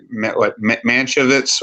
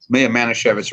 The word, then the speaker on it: Manischewitz: one, which every time I butchered the name, Manchevitz or Mashinovitz, I call it, or Manischewitz. Manischewitz, right, and which was the